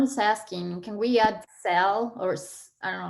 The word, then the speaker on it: Zelle: Don is asking, can we add sell, or I don't know how to pronounce it, sell, Z-E-L-L-E, through our bank?